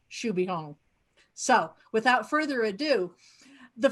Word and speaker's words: Xu Beihong: was pronouncing it correctly so yes in fact it is pronounced should be hong so without further ado